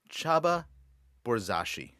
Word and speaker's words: Csaba Borzasi: main website as well chaba borzashi how did i do awesome really really well i know it's hard to pronounce my name it's a hungarian name by the way if